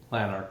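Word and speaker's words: Lanark: Is it Lannarch or Larch? What's the best way to say it? Lannarch.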